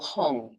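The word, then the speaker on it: hum: syllable shri I'm sorry seed syllable hung h u n g. So you can visualize h u m or h u n g. It's the same.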